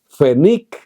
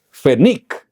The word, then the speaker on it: Pfennig: Pfennig es penny en alemán.